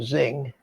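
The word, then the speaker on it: Xing: uh the iflight and everybody pronounces them zing x-i-n-g uh and these are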